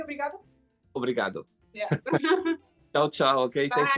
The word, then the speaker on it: obrigado: Obrigado.